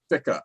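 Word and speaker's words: Ficca: Am I pronouncing his name right? Fica.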